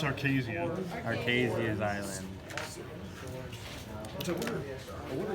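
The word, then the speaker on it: Archazia: It's Arcasia.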